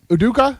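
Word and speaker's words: Udoka: Boston Celtics coach now tell me if I'm pronouncing this right devil are you a basketball fan yeah yeah email yeah uduka yeah perfect emeaduka facing season long I don't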